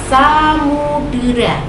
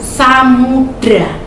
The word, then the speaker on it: Samudera: di puisi Indonesia Jaya ada kata Samudera tapi anak-anak pengucapannya selalu Samudra itu salah penilaiannya ada lagi Kakak